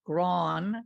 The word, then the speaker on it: Grahn: to be here here my family always pronounced it gron gron and you know it